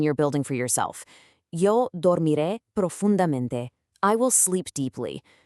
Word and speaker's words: dormiré: And that brings us to dormiré, I will sleep. Let's break down that pronunciation together real quick. dor mi re. Once again, you really want to lean into that strong accented final syllable.